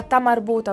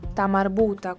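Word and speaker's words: تاء مربوطة: Questa lettera generalmente ha suono A, ma nel momento in cui la parola che termina con la lettera ta marbuta si trova all'interno di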